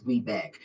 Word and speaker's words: WBENC: there is a wrong so it's webeck it's webeck certified it's wbees it's wec